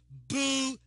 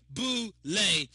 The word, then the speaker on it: Boule: it says it pronounced Bole b o o then it has a dash l a y Bole you know and Boule